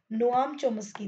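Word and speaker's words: Noam Chomsky: नोआम चोमस्की. तो ये ध्यान रखना, वही चीज है थोड़ी स्पेलिंग का पता है क्या हुआ है, ये बस आगे जाके मिल गया है.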